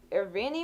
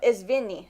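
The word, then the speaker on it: извини: Irvini or something? Okay, wait, hold on. No, Izvini.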